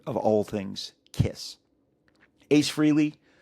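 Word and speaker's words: Frehley: Uh I used to just call him Freely, but this last week I've been I my whole life I've called him freely. And then everyone started pronouncing him upon his passing as Freley.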